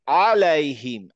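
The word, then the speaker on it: عليهم: সোজা কথা মনে রাখতে হবে, আইন উচ্চারণ করার সময় আমি একটু মানে ভদ্রতা ভেঙে একটু কষ্ট করে উচ্চারণ করবো, আলামিন, আলাইহিম, আলাইহিম। আলাইহিম আলাইমিন হ্যাঁ, ঠিক আছে। এইটা চেষ্টা করতে থাকেন, এবং মাথায় রাখবেন যে আমি নর্মাল বলবো না, নর্মাল আলামিন না বলে আলামিন।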